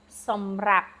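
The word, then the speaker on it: សម្រាប់: Now, you have two different vowels. You have an A and an A. So which of these two syllables will be accented? The second. Som rap.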